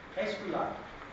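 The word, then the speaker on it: Aesculaap: Escula. In Dutch we say escula. It's spelled A-E-S-C-U-L-A-A-P.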